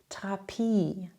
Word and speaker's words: Therapie: TH spricht man einfach wie ein normales T. Zum Beispiel Therapie, Thema, Theorie.